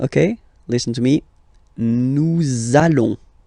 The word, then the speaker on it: nous allons: So it does mean that you will have to pronounce this z sound. Okay, listen to me. Nous allons. Nous allons.